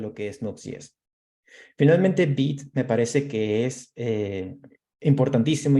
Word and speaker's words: Vite: De hecho, Vite se escribe Vite, pero se pronuncia Vite. Es una palabra francesa para rápido y realmente es rápido.